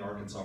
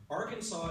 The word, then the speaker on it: Arkansas: you may not know Arkansas is one of the only states that has a silent s in its name that just irritates me I mean Kansas uses their s and it's pretty much the same word so I don't know